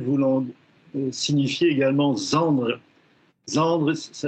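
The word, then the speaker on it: Zandry: Et c'est ce en quoi ce mouvement Z Z ayant un autre sens à Madagascar Z voulant signifier également Zandre. Zandre s'écrit Z A N Dr Y et ça définit au sein de la famille le cadet.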